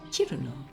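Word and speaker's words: Cirno: Harumi, can you pronounce Chiruno for me? Chiruno.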